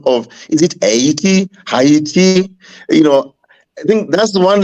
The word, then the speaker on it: Haiti: It is not hate T, it is I-E-T. Haiti.